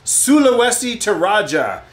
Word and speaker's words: Sulawesi Toraja: I got that baker's chocolate on my brain sulawesi to Raja that's how you pronounce that you guys are fabulous thanks for